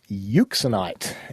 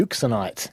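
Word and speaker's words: euxenite: originally detected in and isolated from the mineral uxinite and can you just spell that for me please yeah I can try EU x e n i t e uxinite of course thank you this was discovered by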